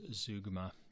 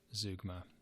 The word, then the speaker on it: zeugma: in just the next 15 pages it's called Zeugma it's spelled ze UGMA and so Zeugma is generally